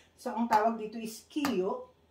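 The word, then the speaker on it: 기역: So, ang tawag dito is kiyo, niyun.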